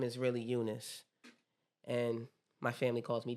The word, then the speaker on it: Eunice: That's how it's spelled, but it's pronounced Eunice. I have to specific. I have to specify that because a lot of people when they see my name, they automatically call me Eunice, but my name is